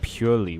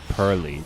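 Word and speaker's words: Purrely: I've heard it's pronounced purely, which is wild. It looks like pearly to me.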